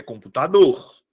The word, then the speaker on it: computador: Identifico qual dessas vogais é pronunciada com mais força. Computador. Qual é a que eu pronuncio com mais força? Tá aqui minha sílaba tônica. É computador ou é computador?